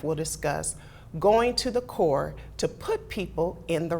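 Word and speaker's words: Coure: Yeah, well, the name of my business is CORE, and it's spelled C-O-U-R-E.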